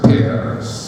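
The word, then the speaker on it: Peirce: autor llamado Charles Sanders pe lo pronuncia así en el estilo inglés se escribe sí per no pce sino pe Bueno este tipo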